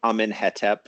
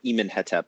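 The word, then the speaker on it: Amenhotep: And what's happening there is that the Amenhetep version, or Emenhetep, I guess, is a sort of artificial pronunciation of just the consonants with vowels thrown in, kind of dummy vowels wherever necessary. And that's done in order to be scientific.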